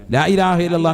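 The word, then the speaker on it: لا إله إلا الله: ഓരോ അറിവുകളാണ് വളരെ ശ്രദ്ധിക്ക് ലാഇലാഹ ഹംസയാണ് വളരെ ശ്രദ്ധിക്കണം ലാഇലാഹ ഇല്ലല്ലാഹു അപ്പൊ ഒരെണ്ണം ആയി ലാഇലാഹ ഇല്ലല്ലാഹ് അവസാനം നീട്ടി ഹാന്റെ ഉച്ചാരണം കൊടുത്തു തന്നെ നിർത്തണം ഇതെങ്ങനെയാ ചെല്ലുന്നത് ലാ ഇലാഹ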